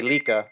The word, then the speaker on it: Lika: Oh, I think I heard the announcer say Lika, so that's how you say it.